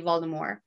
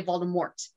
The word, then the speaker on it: Voldemort: of the way because it's french so it's supposed to be voldemort and the t is silent um but in the british like uk they say voldemort like they pronounced that